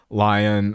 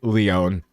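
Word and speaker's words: Lyonne: Okay, they say Leon. I'm going to I'm going to say it that way.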